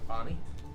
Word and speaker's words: Avani: Avani, like it sounds. Yvonne. I'm a bad speller. A-V-A-N-I. I'm just gonna start with Yvonne. Oh. Avani. I thought you said Yvonne. Avani.